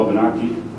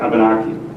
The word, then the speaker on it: Wabanaki: heard us speak heard Abenaki, because our Wabanaki, our soft W, was not picked up by the ears of the French or the English or the Portuguese or